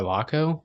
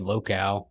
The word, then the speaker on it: Locko: Did you forget how to say it? Yeah. What did we say early? Well, I said the clip of Markham hitting that 3, I said locale. That's what I always say. So I always wanted to make sure I didn't say it wrong on this one.